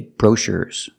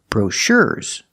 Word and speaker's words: brochures: But he gave me all the brochures and I cannot say brochures. We move the stress, and we move the stress to the second syllable, brochures.